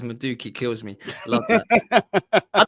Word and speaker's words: Madueke: He says, the way Goonie says Madueke kills me. Love that. I don't even know what his name is. I call him Madueke, but I don't know if it is.